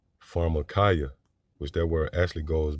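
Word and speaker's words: pharmakeia: marchia farada markaya yeah so that would be the pronunciation in the greek for that word sorcery pharmacaya which there were actually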